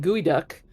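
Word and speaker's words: geoduck: of Oh, I can totally say it like gooey duck, you know, like a clam trying to go or a cohog for you East Coast people.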